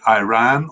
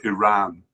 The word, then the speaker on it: Iran: Is it Iran or Iran? Oh, you'd have to tell me. Oh, apparently it's both. Both are acceptable pronunciations.